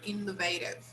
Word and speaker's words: innovative: okay all right here the stress should be here innovative okay but anyway there is a change in the stress according to the part of speech okay with all the